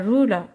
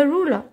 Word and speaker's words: ruler: Un autre exemple, a ruler. Le R n'est pas prononcé en anglais, donc vous pouvez écrire uniquement le E.